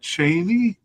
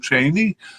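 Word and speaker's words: Chaine: And at the likely level, we have Sifo Cheney. I'm not sure I'm pronouncing that correctly, but it's like a metal chain with an E at the end. Sifo Cheney, I'll say.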